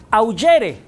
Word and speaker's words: augere: Ahora, esta palabra auctor viene de un verbo en latín, se escribe augere, con G, o sea, G de gato, G, pero se pronuncia augere. Augere es augere.